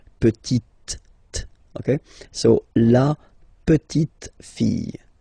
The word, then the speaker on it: petite: So I insist because here it's t, okay? So really you need to make the difference between the masculine form petit and then the feminine form petite, okay?